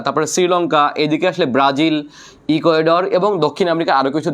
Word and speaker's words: ইকুয়েডর: দেখেন, ইকুয়েটর, এটাকে স্প্যানিশ উচ্চারণকে বলা হয় ইকুয়েটর, ইকুয়েটর। ওকে, ইকুয়েডর বলা হয়, ইকুয়েডর। আমরা ইংলিশে বলি টর, এটা বলে ডর।